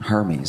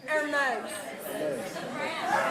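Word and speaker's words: Hermès: Spent money on Hermes. I didn't even know what Hermes was. Luxury bags. Are they men's? Hermes. It's pronounced Hermes.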